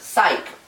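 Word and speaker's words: ψυχή: well in ancient Greece the word for butterfly pronounced pych also means soul and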